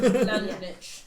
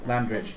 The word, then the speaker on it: Landrich: Landrinich. That twat. Landrinich? Yeah. I wasn't wrong. Sorry. Still fits. Oh, Landrich. Sorry. Landrich. I pronounced that wrong.